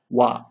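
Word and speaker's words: は: So just know, when being used as a particle, it's pronounced wa.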